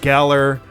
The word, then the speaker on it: Galar: Oh, because it rhymes with Valor.